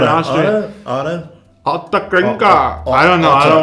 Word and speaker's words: Ottakringer: How do you say that in Austrian? Ottakringer. There you go. That's how you say it in Austrian. Ottakringer.